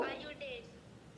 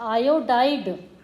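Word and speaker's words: iodide: बोलिए, silver, hello, आयोडेट। Silver आयोडेट। आयोडाइड। क्या पढ़ेंगे हम इसे? आयोडाइड। यस, अब प्रोनाउंसिएशन अच्छे से करेंगे ना, तब हम उसको लिखकर अच्छे से प्रैक्टिस कर पाएंगे। तो इसका प्रोनाउंसिएशन है सिल्वर आयोडाइड।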